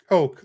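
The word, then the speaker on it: Koch: Um, oh, so Deuce says I believe it's pronounced uh Coke like the soda. Okay, it's spelled K O C H.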